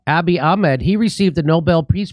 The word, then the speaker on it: Abiy Ahmed: Abiy Ahmed. Abiy Ahmed.